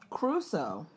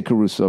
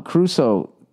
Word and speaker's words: Crusoe: Crusoe. The way it's spelled, Crusoe. Robinson Crusoe? Everyone says Robinson Crusoe, but it looks like Crusoe. I say Caruso because I always think of Ray Carruth.